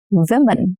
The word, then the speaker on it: women: Tell me, how do you pronounce this word? Women, not women. No, women.